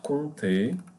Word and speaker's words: compter: Mais, parce que, car, pour, alors, donc, avec, si, par, très, une maison, bienvenue, coûter, compter, the P is silent, compter, il y a, un crayon, le même, le meilleur, la réponse, voilà, voici, c'est, amusant, parler.